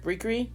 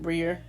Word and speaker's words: Briere: But it's not Briere, it's Briere. That's how you say it, not Briere, Briere.